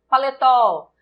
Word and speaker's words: paletó: Paletó, paletó, paletó, paletó. O tó é a sílaba tônica, oxítona terminada em O.